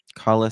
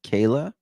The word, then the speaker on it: Kala: Kala seems to be pronounced Kayla.